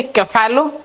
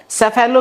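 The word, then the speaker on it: cephalo: Head यानी कि कैफेलो। कैफेलो का लिटरली मीनिंग क्या होता है? हेड। कैफेलो को बहुत लोग जो प्रोनाउंस करते हैं वो सैफेलो भी पढ़ते हैं।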